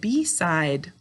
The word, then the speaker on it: beside: And in the second syllable, how do we make our I-E say I? Good, with a silent final E, job 1.